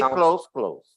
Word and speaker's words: clothes: this word close right basically they are synonyms in sound okay they are homophones they have the same sound right still just say close close Okay because uh if